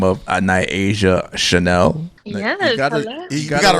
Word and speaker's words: Nyasia Chane'l: And joining us is a lovely young lady by the name of Nyasia Chane'l.